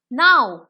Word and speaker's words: know: लेकिन जब हम इसमें के जोड़ देते हैं तब ये हो जाता है नो। के लेकिन बोला नहीं जाता है तो हम इसको साइलेंट रखते हैं। इसकी स्पेलिंग हो जाएगी नो, नो, नो। ओके, तो what we will pronounce is correctly नो।